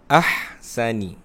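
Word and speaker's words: أَحْسَنِ: Cara bacaannya ialah dengan memasukkan huruf ha, sebutannya mesti berbunyi ha pedas. Contoh, ahsani.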